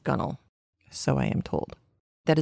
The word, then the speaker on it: gunwale: side of the boat it is spelled gunwale it is pronounced gunnel so I am told